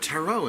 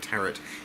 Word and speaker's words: tarot: call the terat because everybody calls at errant but if you're watching this and you're still calling it teret it is taro ta our OT the last T is silent so there it was